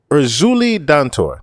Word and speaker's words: Erzulie Dantor: So, Erzulie Dantor, that's her name.